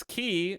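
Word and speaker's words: 気: multiple ways to pronounce in Japanese it's key roughly the same as the English word key this is essentially the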